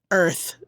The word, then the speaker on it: Urth: Earth. Sorry, and it's spelled URTH.